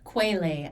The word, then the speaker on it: Quetelet: BMI was created by this guy named Lambert Adolphe Jacques Quetelet. Quetelet, actually, is how you pronounce it.